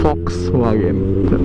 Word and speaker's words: Volkswagen: Yan, Volkswagen. Yun daw yung pagkakapronounce na sabi ni Sir Pungkoy.